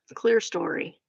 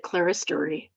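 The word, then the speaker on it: clerestory: Clear story. Would not have pronounced it like that. I would have pronounced it claristory.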